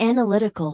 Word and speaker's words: analytical: Analyze stresses the first syllable. Analysis stresses the second and analytical stresses the third.